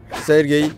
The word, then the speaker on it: Sergey: Ve ilk Sergey, artık Serge diye öyle bir şey telaffuz ediyorlar ama Sergey diyelim.